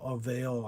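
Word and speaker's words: Alluvial: Uh number 18 is 40 stories of it of Avail, I think is how you say it's A L L U V I A L.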